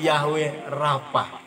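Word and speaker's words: Yahweh Rapha: Yahweh Rafa tulisannya Rawi aware apa ya tapi pelafalannya Yahweh Rafa Ya Rafa saudaraku Apa penyakit orang Mesir ya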